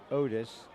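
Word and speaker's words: Oates: about the panther program Otis the throw incomplete intended for neibler or rather dibler two of six for 26 yards Otis spelled o-a-t-e-s but pronounced Otis as an Otis Redding Sitting on the Dock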